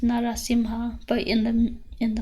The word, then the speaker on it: Narasimha: done to a specific deity so for example narasimha or well it's actually pronounced narasimha but in the in the mantra we use